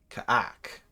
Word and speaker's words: Ka'ak: Ka'ak. And that's how I'm going to pronounce it. Otherwise, the obvious way to pronounce it's not very YouTube friendly.